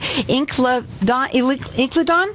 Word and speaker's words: Incledon: and I hope I say it right, Incledon?